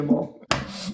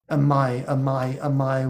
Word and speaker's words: Amai: Is it Amai or Amal? Pardon? Is your name Amal or Amai? I can't tell if it's an L or an I. It's an I. Amai.